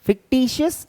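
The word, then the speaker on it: fictitious: topic फिक टियस assets कई बच्चों को इसे प्रोनाउंस करने में दिक्कत होती है फिक शियस एसेट्स फिक्टिशस एसेट्स बेटा ये वास्तव में कोई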